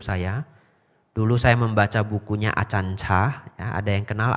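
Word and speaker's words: Ajahn: Ditulis pakai J, sebenarnya bacanya C, itu bahasa Thai. Baca yang benar adalah Achan. A-nya panjang ya, A yang kedua panjang Achan ya.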